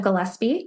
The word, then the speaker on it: Gillespie: And I'm also on LinkedIn, Gillespie, which is a mouthful. And I'll spell it out because it's not quite the normal name.